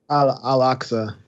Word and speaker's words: Al-Aqsa: Palestinians, Israeli police clash at Jerusalem's how do you pronounce that? Al-Aqsa. Al-Aqsa compound.